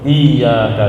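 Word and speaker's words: إِيَّاكَ: Contoh, iyyaka na'budu itu ada tasydid. Kalau bacanya iyyaka na'budu wa iyyaka nasta'in, iyyaka na'budu dan iyyaka na'budu, ono tasydid dan tidak, ternyata maknanya beda.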